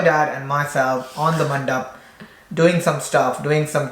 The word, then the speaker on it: mandap: Mandap. Mandip. It's called a mandip. No, it's mandap. How mandip? One mandip. One mandip. Two mandip. But is that not how you spell it? It's MANDAP, mandap.